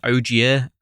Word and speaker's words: Ogier: by a rock because I swear it's pronounced Ogier, Ogieer.